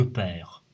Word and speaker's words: perds: vous donne dans je perds tu perds elle perd mais notez que le s se prononcent pas ici nous perdons vous par